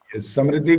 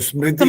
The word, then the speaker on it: स्मृति: जो 2 स्मृति ग्रंथ है ना, हाँ, एक तो मनुस्मृति ग्रंथ और समृद्धि दूसरा समृद्धि गलत बोल रहे हो, स्मृति होता है, स्मृति आधा बोल होता है।